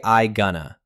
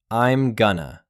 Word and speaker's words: I'm gonna: Don't say I gonna. Merge the am. I'm gonna.